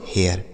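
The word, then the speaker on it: hair: एच से हो गया ह ए आई का उच्चारण ए आर से र से पढ़ा जाएगा बच्चों हियर ठीक है तो अगर ए आई रहे तो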